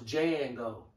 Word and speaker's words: Django: he said the end the d is silent so it's jan go it's jango jango now the movie called